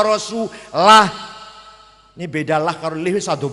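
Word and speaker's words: رسوله: Innallaha bari'um minal musyrikina wa rasulih. Allah orang lindungi orang musyrik dan tidak melindungi rasulnya. Salah. Bacanya innallaha bari'um minal musyrikina wa rasulah.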